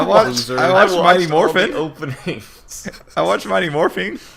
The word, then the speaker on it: Morphin: Mighty all the Morphin. openings. I watched Mighty Morphing. To be Mighty those Morphine? openings are pretty Mighty Morphin. Morphing.